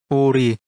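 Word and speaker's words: 우리: This is read as Ori, which means we or us.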